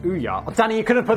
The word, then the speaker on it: Ouya: The Ouya gaming console, pronounced Ouya.